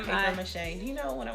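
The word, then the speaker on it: Mishay: Is her full name Mache? Yeah, it's just spelled with a Y at the end.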